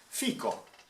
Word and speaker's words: fico: It says, how to safely pronounce fig in Italian? Fico.